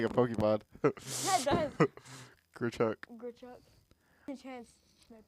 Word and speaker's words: Grichuk: Good It's like Grichuk. Good chuck. Good chuck. Grichuk. I think that's why I said it at the start of the. Sounds like a Pokemon. That does. Grichuk.